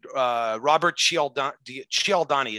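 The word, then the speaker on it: Cialdini: persuasion by an expert called uh robert shield ciao donnie it's spelled c-i-a-l-d-i-n-i he has this great little video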